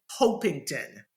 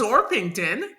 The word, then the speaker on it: Orpington: I thought that Tommy's name was actually Tommy hington ah and because it's Coronation Street they just didn't pronounce the h and they put a slight R after the O I didn't know it was orpington oron did that happen to anybody else no